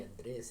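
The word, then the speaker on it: Andrés: telling her shit like, why you guys call me Andrew then? Mm-hmm. I was like, look at the way Andres is spelled. Yeah. It's spelled Andres. Don't call Just me go Andrew. Dr. Dre, bro. Fuck it. Don't call me. Just go Dre. Don't call me Andrew. Don't call me Andrew. Call me Andres, I say.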